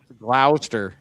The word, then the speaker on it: Gloucester: Gloucester. Yeah, it's Gloucester. It's Gloucester, like Gloucester. claw, Gloucester. like a lobster Gloucester.